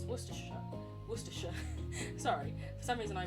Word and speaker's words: Worcestershire: uk as a canadian is knowing how to pronounce worcestershire worcestershire sorry for some reason i read that as